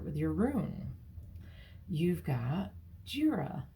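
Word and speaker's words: Jera: your room you've got jira IRA um like it sounds kind of even though it's spelled j-e-r-a it's the year it's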